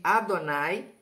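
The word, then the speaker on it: אֲדֹנָי: Com os maçoréticos os sinais de Adonai, aí eu pronuncio Adonai.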